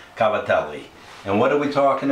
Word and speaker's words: Cavatelli: Northeast's favorite pastas, Cavatelli, or as New York Italians like to say, Cavadillo. Anyway, remember, Italians pronounce every vowel of every word, so the proper terminology is Cavatelli.